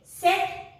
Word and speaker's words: cette: And in French, it is say, set, C-E-T-T-E and say. How will you pronounce?